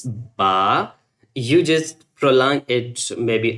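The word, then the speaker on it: باء: And when we pronounce ba, we just together both lips and we pronounce it clearly ba.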